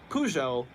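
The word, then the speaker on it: Peugeot: who is the cross town rival to Ferrari pujo that is spelled PE u g eot t they're a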